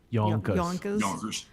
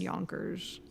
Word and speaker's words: Yonkers: Yonkers.